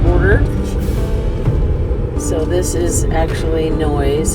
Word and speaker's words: Noyes: So this is actually Noyes. It's spelled Noyes.